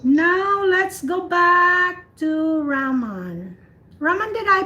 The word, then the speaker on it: Raman: Now let's go back to Raman. Raman, did I pronounce your name correctly? Raman or Raman? Raman, ma'am, it's Raman.